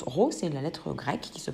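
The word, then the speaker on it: ρ: sorte de paix en physique l'instant elle se prononce rossé la lettre grecque qui se prononceront donc gros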